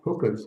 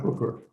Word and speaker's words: hookah: of college students use hookahs at some point. But I want to be sure I'm pronouncing that. It's OHS, not ER. Hookah, not hooker.